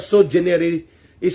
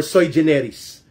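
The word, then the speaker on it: sui generis: termino na so generis pronounce correctly sogeneris or soy generis su u i and then generis is g e n e r e s generis ang ibig ko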